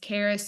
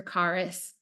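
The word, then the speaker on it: χάρις: It's charis, and it's pronounced two different ways, charis or charis.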